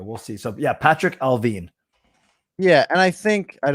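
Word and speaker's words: Allvin: today is patrick alvin it is spelt like alvin but it's alvin because it's like sadine he's from sweden he's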